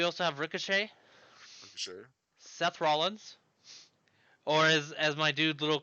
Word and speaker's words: Rollins: Seth Rollins, or as my dude Little Curb would say, Seth Rollins.